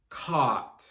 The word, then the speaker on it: caught: Again, we just have 3 sounds in the past and past participle forms. K, A, T. Caught.